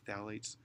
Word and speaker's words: phthalates: There's other chemicals called phthalates. It's spelled with a PH, but it's pronounced with a TH, phthalates.